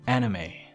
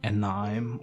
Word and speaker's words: anime: Well, this one is pronounced quite wrong by some English learners. It's because the word anime is not invented in English, right? I think so. Maybe this is the reason why it's pronounced like how it is, right? Anime, not anime or something else.